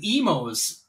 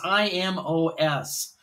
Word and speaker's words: Imo's: pizza we got an Emo's frozen pizza I think it's pronounced emails it's i-m-o-s uh uh Imo's I'm sure it's Emos but Emos is usually spelled with an E like emo Phillips who is on the